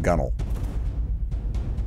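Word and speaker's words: gunwale: i believe that but i believe that's pronounced gunnel gunnel uh you're i think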